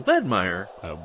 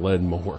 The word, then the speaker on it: Ledmore: I thought it was Ledmire. It's always been Ledmore.